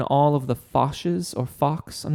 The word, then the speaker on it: Fach: of the fasces or Fachs. I'm not sure exactly how you pronounce that. F-A-C-H. It's German, so I'm actually beginning to think it's probably Fach.